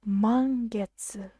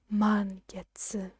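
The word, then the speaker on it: 満月: is the word for the full moon it's pronounced man gets man gets of course you can see here but we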